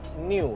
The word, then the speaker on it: Neu: Karena gue udah konfirmasi lagi pihak brandnya bacanya New, seperti baru. Jadi seolah-olah seperti hal baru masuk ke Indonesia nih, EV baru masuk ke Indonesia dengan nama New.